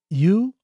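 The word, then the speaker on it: ewe: for you one word you probably know what it is if you saw it but if you heard it you may not it's you I hope I was pronouncing that correctly it's an you it's a female sheep so the basic story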